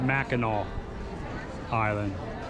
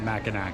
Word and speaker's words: Mackinac Island: lunch over here it's pronounced mackinaw island not mackinac so that's your bbb